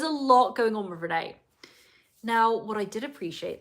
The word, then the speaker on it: Rayne: Let's go into Renee. Now, it's so hard to talk about Renee every time I look at my notes because once again, it's spelled Rayne.